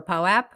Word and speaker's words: POAP: no longer have to ask if it's pronounced pope or POAP. Yeah, it's POAP.